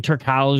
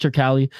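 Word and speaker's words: Turkalj: to beat Anton tural it's it's tural right that's how it's pronounced I know people are saying tural but it's pronounced tural saw this cat on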